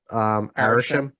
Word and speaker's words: Arishem: are taken away by I always pronounce his name wrong. What is it? Arishem.